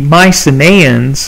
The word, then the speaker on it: Mycenaean: Now, the Mycenaeans, and you can see there are quite a few vowels up there in that name, so I'll let you write that down. Mycenaean is how you pronounce that.